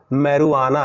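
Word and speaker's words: marijuana: गांजा एक मादक पदार्थ होता है, उसे हम लिखते हैं मैरिजुआना बट पढ़ेंगे उसको मैरुआना, यहाँ जे साइलेंट होगा।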